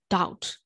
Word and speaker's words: doubt: u b d ဆိုရင် doubt ဒါ or to doubt doubt ဒါပဲ debt ဆိုရင် debt ဒါ at debt